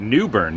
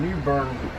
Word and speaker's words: New Bern: So you pronounce it New Bern, not New Bern.